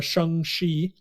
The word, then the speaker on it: Shang-Chi: to pronounce it because this is how uh kevin feige pronounced it in his announcement is uh shang shi uh that's the way he pronounced the movie so apparently shengshi is